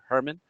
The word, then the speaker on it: Hoermann: having me on uh nobody pronounces my name right it's actually uh herman don't worry no don't